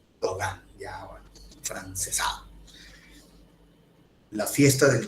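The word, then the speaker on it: Gauguin: era terrible muy bien Paul gogan no goin se escribe no y se pronuncia gogan ya Frances la fiesta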